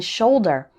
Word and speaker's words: shoulder: But it can also be pronounced O as in shoulder and as in couple.